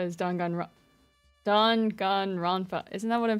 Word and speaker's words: Danganronpa: By the way, I learned at a library the correct way to say Danganronpa is Danganronpa.